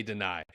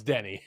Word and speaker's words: Denny: No, most people would say Deny. It's Denny. It is Denny.